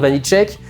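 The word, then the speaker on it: Vaniček: Donc moi aussi maintenant, j'ai regardé la vidéo du JDG, je sais que ça se prononce Vanille Check. Vous le saviez pas avant quand le film est sorti que j'ai dit Vanisc, personne m'a rattrapé dans les commentaires.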